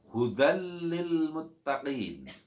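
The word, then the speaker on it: هدى للمتقين: Maka cara membacanya, ya, huruf bacaan dal dilebur kepada bacaan lam, hudal masuk, disertai tanpa mendengung. Tidak boleh dibaca mendengung dan harus dibaca jelas.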